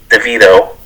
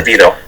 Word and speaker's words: DeVito: And you know me, I had to go with Mama, But our boy Tommy DeVito, right? Am I pronouncing that correct? No. DeVito.